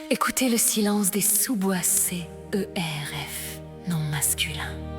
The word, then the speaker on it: cerf: Écoutez le silence des sous-boissés Eur F non masculin. Attention à la prononciation. Le F se fait entendre mais le prestige est total.